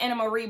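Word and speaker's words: Annemarie: her name is pronounced Anna Marie but it's actually spelled an Marie it's a Dutch name I feel like I've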